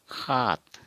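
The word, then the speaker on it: সাত: असमिया में हम खात, जैसे सात होता है, सात सात, लेकिन उच्चारण करते टाइम में हम असमिया में इसको खात बोलते हैं। क्या बोलते हैं? खात। ख का या ह का उच्चारण होता है, जैसे खात, सात को हम खात, और हिंदी में बोलेंगे सात। हिंदी में सीधा साधा सात, असमिया में खात और हिंदी में सात।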